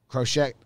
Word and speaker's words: Crochet: guys on base yeah um eloy gets hurt crochet is how you say crochet gets hurt he